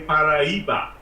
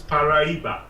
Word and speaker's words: Paraiba: you say Mariah but actually it's Portuguese and you say Paraiba we correct way to pronounce it is Paraiba Marie bouquet I think